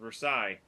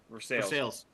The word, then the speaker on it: Versailles: Columbus Grove versus ver Versailles verses veres ver they they actually do pronounce the verses part um I think we